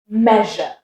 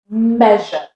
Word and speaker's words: measure: Measure. Right, can you say it with me? Measure.